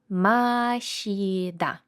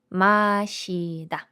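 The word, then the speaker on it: 마시다: дивитися перше наше слово машіда я вам Нагадую що комбінація літери с ш з літерою і утворює звук ші Маші да Маші да це в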